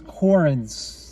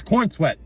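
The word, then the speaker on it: Corenswet: I think it's Corns. Nope, it's Corn Sweat.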